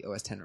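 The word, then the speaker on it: OS X: If I was going to say it correctly it would be OS10 reverser.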